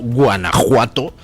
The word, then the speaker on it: Guanajuato: tienen ustedes pueblos como Guanajuato, que se pronuncia como México con J, y que se escribe con J, cuando durante todo el siglo XIX permaneció la coexistencia de las dos grafías, Guanajuato con J y Guanajuato con X pronunciado J.